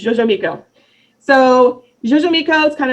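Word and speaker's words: Xoximilco: because it's fun, is, this one's pronounced weird, okay? You ready? Jojo Miko. That's what you get out of the title. It's Jojo Miko.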